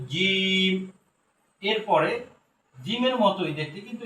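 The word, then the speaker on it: جيم: অক্ষরটার নাম হলো জীব শক্ত করে বলতে হবে জিম এরপরে জিমের মতই দেখতে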